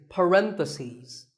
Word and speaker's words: parentheses: If you're talking about both, the plural is parentheses. The last syllable becomes C's. Parentheses.